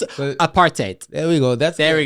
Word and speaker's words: apartheid: I butchered it. Apartheid.